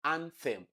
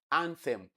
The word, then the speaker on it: anthem: Notice the way I pronounce it. Anthem. So the sound you have there is a dental sound. It is not an aa sound. Aa is t that you have in toad.